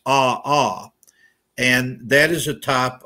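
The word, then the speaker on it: ʻaʻā: It's pronounced ah-ah, and that is a type of basaltic lava.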